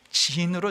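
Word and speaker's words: צִן: 그 원래 발음대로 하면 신이 아니라 진입니다. 출애굽한 다음에 도착한 곳은 신광야고 출애굽한 지 40년째 된 해에 도착한 광야는 진광야입니다. 영어 성경에 보면 진으로 되어 있습니다.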